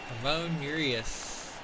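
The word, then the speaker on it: Ramón Urías: Ramon Urias.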